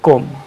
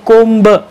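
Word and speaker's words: comb: आता या स्पेलिंगमध्ये बघा, बी हा वर्ड दिसतोय पण इथंसुद्धा बी सायलेंट आहे आणि उच्चार होतोय कोम. बऱ्याच वेळेला काही लोक कोंब असं म्हणतात, that is नॉट the right word, that is नॉट the right pronunciation. Right pronunciation is authentic pronunciation is कोम, B silent.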